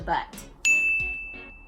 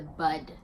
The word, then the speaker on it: bud: And it is nip it in the butt. In the bud.